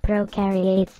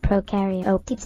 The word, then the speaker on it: prokaryotes: to know is that prokaryotes have no nucleus like pro rhymes with no no i think it